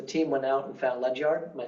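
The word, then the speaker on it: Ledyard: So the team went out and found Lechyard. Am I saying it right? Lechard. Ledger it says leard try to spell their mascot at the same time.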